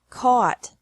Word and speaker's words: caught: This can be spelled o u g ht or a u g ht, but the pronunciation is the same. Bring. Brought. Brought. Buy. Bought. Bought. Catch. Caught.